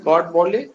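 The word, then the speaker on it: Godbole: तो जो professor Narayan गॉड बोले हैं वो है प्रोनाउंस गॉड बोले, प्रोफेसर नारायण गॉड बोले हैं।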